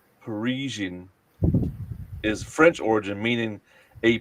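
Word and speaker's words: Parisienne: He was pronouncing the name of the car, which is called a Parisian, syllable for syllable. Paracini. Yeah, Paracini.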